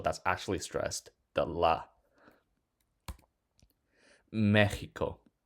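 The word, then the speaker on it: México: Mexico ends with a vowel, so the stress should fall on the chi, but it doesn't. It falls on the me, so we put accent mark over the e.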